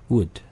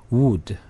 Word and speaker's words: would: 이 발음들이 O-U, O-U가 있는데 이 발음들도 다 우 발음이 아니라 약한 으 발음입니다. 그래서 would, could, should 이 정도입니다. 네, 한번 읽어볼까요? would, 네. could, 네, 네. should 네, 그 정도입니다. 으 발음이라고 생각하시면 약간 으 발음이라고 생각하시면 되고 우 발음으로 읽어버리면 would, could, should 이렇게 되겠죠.